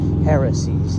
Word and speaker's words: heresies: What they was Pharisees is how we would pronounce it, but it's heresies, like a heretic.